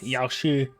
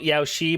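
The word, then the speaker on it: Yaoshi: Sanctus Medicus the abundance Yoshi Yoshi it's spelled Yao she but it's not pronounced that way makes me mad so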